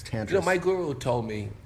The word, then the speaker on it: Tantris: we're in the um tantress which is not pronounced tantress it's tantress Guru told me U who Sharon and David